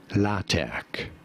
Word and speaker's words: LaTeX: about the software system this is said as la tech it is generally spelt with a capital t in the middle if